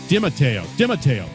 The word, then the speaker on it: Dimatteo: That's Dimatteo. Come on. Did I get it close? You had the Italian pronunciation.